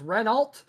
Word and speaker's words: Renault: in the Box and apparently horn says it's pronounced renal but we're going to go with Renault because well we we're already saying it and Lead going